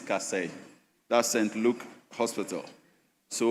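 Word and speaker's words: Kasei: The name is Cass.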